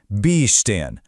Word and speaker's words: bestehen: If you're dealing with a separable verb, the emphasis is always on the prefix. You really hear it, aufstehen. But for non-separable verbs, the stress is on the main part of the verb, the stem, bestehen.